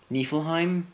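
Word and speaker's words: Niflheim: still I'm doing nifflheim nifflheim is how they pronounce in game and it's an interesting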